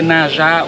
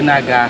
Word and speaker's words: Naga: Donc c'est on peut prononcer le Naja ou le Naga.